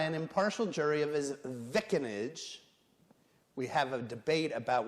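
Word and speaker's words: vicinage: that's in new jersey that's definitely pronounced vickinage i'm told there's an alternative pronunciation of this image but i am not clear on that without who's but we'll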